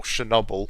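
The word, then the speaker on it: Chornobyl: you read the book Chernobyl or Chernobyl which is how you say it properly in Ukrainian um by Sergei py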